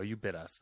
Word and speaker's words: Ubitus: how to pronounce this called uh ubitus you you you bit us there we go you bit us that's what that's what it is now uh the company